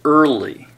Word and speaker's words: early: and the r here's early it has five letters but the a is silent so it has only three sounds ER old e now